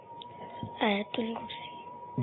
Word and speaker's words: آیت الکرسی: آیت الکرسی. جی آیت الکرسی. آیت الکرسی.